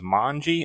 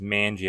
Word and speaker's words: Manji: there's his name manie I used to think it was mangi and I've said mangi in like all my other videos when I refer to him but no it is manie I think and same with idos